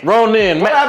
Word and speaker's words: Ronin: Ronin. It rhyme with grown men.